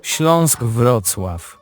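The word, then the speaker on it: Śląsk: And the team who finished in fifth place, Schlashk Schlashkclaw, or if you maybe say it properly, Schlonesk.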